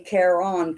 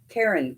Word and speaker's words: Caron: So let me tell you, I say Caron cakes, okay, which I'm sure that's wrong, because he pronounces it Karen cakes. On the Karen cakes of yarn, I pronounce it Caron cakes.